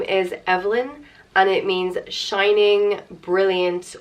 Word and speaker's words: Evelyn: the next name is Evelyn and it means shining brilliant or radiant on it's pronounced EV Lynne Evelyn or you can put